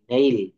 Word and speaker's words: nail: NAIL, নেইল। Straight. অর্থাৎ কনসোনান্টের পর AI এর উচ্চারণ সবসময় এই বা এ হয়।